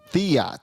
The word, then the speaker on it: Theriot: Theriot. So that's how you pronounce it. It looked like the riot.